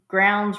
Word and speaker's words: Grounds: Hey, Lorie, it's Grounds Rhymes with Crowns joining your live because I see groans.